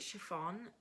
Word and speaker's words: chiffon: Chiffon? Chiffon. It sounds like my dad's girlfriend's name, Siobhan.